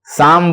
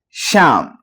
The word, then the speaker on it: شام: ہمارے بہت سارے بچے شام کے بجائے سام بولتے ہیں. سام سام سام سام. تو سام نہیں, شام. شام شام.